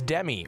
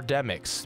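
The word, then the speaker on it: Demyx: And he says, I think that's Demi, or Demix, depending on how you pronounce it. And I gotta be honest, Jason, no one says Demi. I've never heard that in my life.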